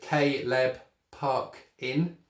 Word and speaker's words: Caleb Parkin: piece - paper here so kay leb puck in I've broken it down into syllables okay and by leb